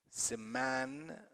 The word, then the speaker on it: semantic: And syntactic, fantastic, fantastic, semantic, semantic, see tick. The last syllable, which is suffix, is not stressed. The stress is on the one before it.